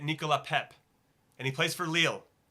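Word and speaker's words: Nicolas Pépé: pronounce his name correctly it's spelled from an American side of the how we would say it is Nicholas Pepe but I think you say it Nicola pep and he plays for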